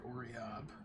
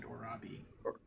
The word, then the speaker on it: Oriob: I think you got most of the names okay, except for Oriob. You said Orabi. Orabi? It's Oriob?